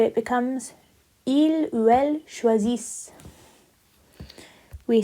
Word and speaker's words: choisissent: But we don't pronounce the ENT, so it becomes il ou elle choisissent.